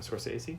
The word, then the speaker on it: Scorsese: Martin Scorsese?